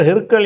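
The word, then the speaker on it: هرقل: இருந்தால் அதுக்கு சட்டம் இருக்காது அந்த ஹிர்கிற ஹிருக்கல் என்பதை வந்து அதிகமான நூல்கள்ல வந்து ஹிர்க்கல் என்று அந்த ரேக்கு சுகூன் கொடுத்து காஃபுக்கு பத்தகு போட்டிருப்பாங்க இந்த இடத்துல ஹிரக்லன்னு வந்திருக்கு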